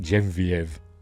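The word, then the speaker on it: Geneviève: I've always pronounced it Genevieve, but I've heard people pronounce it Genevieve, whatever. Bujold.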